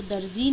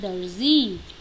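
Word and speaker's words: दर्ज़ी: हम जनरली बोल देते हैं, मैं दर्जी के पास जा रहा हूँ, मैं दर्जी के पास जा रही हूँ। नहीं, वो दर्जी नहीं है, वो है दर्जी।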